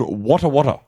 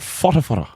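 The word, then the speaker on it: Whatawhata: But it's not called Wata Wata. What do you call it? It's called Fota Fota. How do you spell it? Oh. Like, What's what? Like A? What A? like Dean Farre. WHARE. Yes. What? Well, it's like, I think I guess it's Maori. WH is a F sound.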